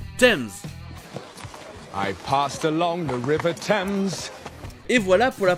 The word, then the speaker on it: Thames: Et enfin il existe des mots avec "th" où le "h" est juste muet comme par exemple du thym, "thyme" ou encore le fleuve connu sous le nom de la Tamise, "Thames".